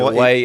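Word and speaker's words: Hawaiʻi: So it isn't necessary to have to say Hawaii all the time. Hawaii is only one pronunciation. native speakers say Hawaii, native speakers say Hawaii. And then there's Hawaii. So to insist that it must always be pronounced Hawaii is being anal retentive and unnecessarily so.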